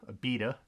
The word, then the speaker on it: Abita: up we got here from a bit to Abita gotta Roy look up how to pronounce my breweries but this is Abita this